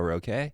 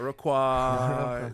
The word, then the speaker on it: Roque: Brother Miggo Roque? Not Roquois. Okay with an R.